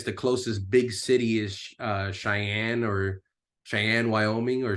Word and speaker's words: Cheyenne: And she looks at it on the map, and I guess the closest big city is Cheyenne, Wyoming, or Cheyenne.